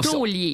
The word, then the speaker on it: taulier: Maintenant, on parle de taulier. Puis les 2 autres, on vous les garde en surprise. C'est des pour plus surprises. tard. Alors, aujourd'hui, tu nous parles de taulier. Oui, du métier de taulier.